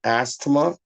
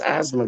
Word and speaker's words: asthma: i got asthma too what are you gonna call that astoma no it's not astoma it's asthma guard i got that